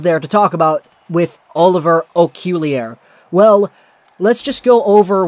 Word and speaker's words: Okuliar: Okuliar, and that's how the thing apparently is pronounced. I'll play it for you right here. Oliver Okuliar. Okuliar.